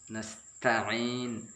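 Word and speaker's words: نستعين: Yang selalu salah adalah ketika nasta'in. Di sini penekanannya di sini. Iyyaka na'budu wa iyyaka nasta'in. Kalau kita tanpa ada tekanan maka merubah arti.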